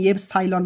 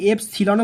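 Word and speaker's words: epsilon: যে যেমন উচ্চারণ করবে আমি এফ সাইলন বললাম তুমি এটাকে এফ সিলনও বলতে পারো ঠিক আছে হয় সাইলনও বলতে পারো সিলন বলতে পারো এফ সাইলন বা এফসিলন ঠিক আছে এফ সাইলন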